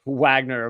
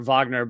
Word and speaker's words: Wagner: the the Wagner I I've heard it pronounced both ways I don't know what you guys prefer uh Wagner or Vagner but uh I guess I more often hear Wagner but um the Wagner